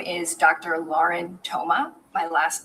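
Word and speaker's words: Thoma: Lauren Toma.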